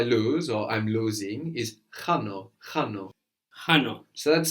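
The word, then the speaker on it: χάνω: The verb I lose or I'm losing is chano, chano. Chano. So that's spelled with a letter that looks like an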